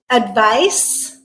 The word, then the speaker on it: advice: Word pair number 2, advice, advise. Okay, so here they did change the spelling. Advice, the noun, is spelled with a C.